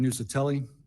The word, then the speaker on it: Nuccetelli: Okay, now we're on to Nuccatelli, is how I've heard how it's pronounced. Nuccatelli. My name is Jeffrey Nuccetelli.